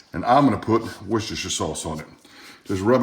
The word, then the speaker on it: Worcestershire: with some worcestershire sauce i pronounce it worcestershire and i've got the authority to do so because my grandfather was from england worcestershire i mean nobody says new hampshire so why would you say worcestershire i don't care how